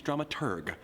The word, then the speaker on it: dramaturg: Pronunciation is dramaturg, the researcher of the plays and operas being put on.